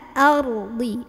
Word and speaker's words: وَالْأَرْضِ: Wal-ar, ro-nya tebal. Ar, ar, a, a, a, ardi. A-nya jangan sampai ardi gitu. A-nya ikut jadi kayak mau bilang o, tebal. A, a, ya buka. Ardi, di, di. Ini bukan ardi, tapi ardi. Pakai sisi lidah.